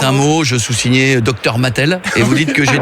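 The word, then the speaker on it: Matel: Moi, c'est Mathel. Bonjour Mathel, comme les jouets.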